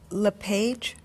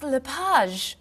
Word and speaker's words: Lapage: just a few minutes is your last name pronounced LePage it's Lapage actually oh that's beautiful thank you now is it MS Lapage or mrs.